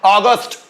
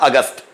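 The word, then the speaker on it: August: जाता है नेक्स्ट है अगस्ट अगस्ट means English pronunciation अगस्ट Hindi में बोलते हैं हम अगस्त ठीक है ना अगस्ट मींस हिंदी में हम बोलते हैं उसको अगस्त नेक्स्ट वर्ड है सप्टेंबर सेप्टेंबर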